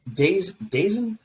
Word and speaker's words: DAZN: Dazen.